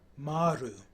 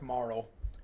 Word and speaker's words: Marle: guess maru so yeah in japanese it would have been maru and uh so yeah something like morrow would be uh how you pronounce it in english i think okay so we've got